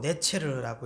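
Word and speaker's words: נצר: 그래서 한 가지, 이 가지라는 단어가 히브리어로 네체르라고 읽거든요.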